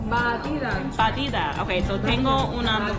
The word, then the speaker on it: batida: Batida.